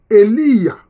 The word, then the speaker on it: Elia: prophète Élie, se dit Elia. Ça se dit Elia, qui veut dire Yahvé est mon Dieu. Elia, Yahvé est mon Dieu. C'est ça le nom du prophète Élie. La bonne prononciation, c'est Elia.